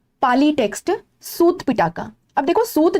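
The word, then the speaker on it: सुत्त: पाली में र साइलेंट होता है, तो इसको सूत कर दिया गया, सूत पिटा का।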